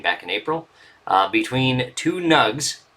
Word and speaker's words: Gnug: A match from 1999, back in April, between two Gnugs. That's just how I pronounce it, the G-N-U-G, the Gnug clan.